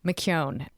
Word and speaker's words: McKeown: interesting to me um mcon rhymes with phone Mone mcon yes exactly and um